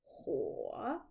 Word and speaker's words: 火: La prononciation, c'est Huo. Huo.